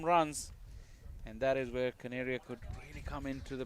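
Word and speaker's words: Kaneria: It's D Caneria. Canary. Like a canary. Like a bird.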